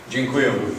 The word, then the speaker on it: Dziękuję: Dziękuję.